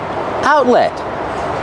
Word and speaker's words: outlet: do you pronounce outlet outlet The First Tee in the middle is a stop tee so we put our tongue up and stop the air out let link the sounds let and the final T is